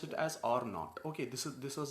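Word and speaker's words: R₀: it is written as R 0 and is pronounced as are not I have done some Gerard here because I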